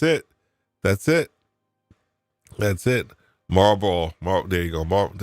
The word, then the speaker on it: Marlboro: Marlboro. There you go. I'm not even pronouncing it correctly. I've lost my Boston accent because I haven't been there in a long time. Marlboro Economic Development.